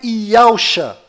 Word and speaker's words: Yahusha: E a pronúncia é Yahusha.